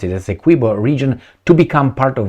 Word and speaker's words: Essequibo: would like that particular Essequibo, that's how I pronounce it, Essequibo region, to become part of Venezuela.